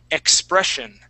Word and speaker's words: expression: here the word is expression expression expressive okay so here in the middle of the word with the uh with the double s we're going to pronounce that as a sh sound expression expression Express okay